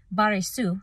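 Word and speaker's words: Βαριησοῦ: Baresu is how it's said in the Greek, and it's son of Jesus.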